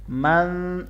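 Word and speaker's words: مَنْ: मन, यहाँ नून साकिन है, आगे ज़ाल है, इसलिए यहाँ पे इख्फा होगा। मन, थोड़ी देर आपने यहाँ पे आवाज़ को नाक में छुपाना है।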